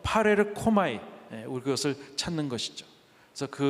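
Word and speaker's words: παρέρχομαι: 헬라어 단어에 파레르코마이라는 단어가 있습니다. 파레르코마이. 한번 따라 파레르코마이. 네, 굉장히 발음도 좋습니다.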